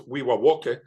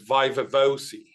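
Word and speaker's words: viva voce: So when I had my DPhil exam in Oxford, it's Wiwawoke, but we pronounce it in Oxford as Vaivevosi.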